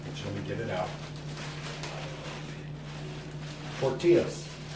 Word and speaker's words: tortilla: In Spanish, the 2 L's together is pronounced like a ya, so it'll be tortilla.